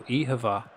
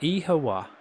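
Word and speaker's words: oíche mhaith: So ehava means good night. Eha is night. Ma means good. How do you say it? Ehawa. Or you can also pronounce it like like a W. Depends depends on where you are in the country. But eh e-hama eh ehava kind of like a v.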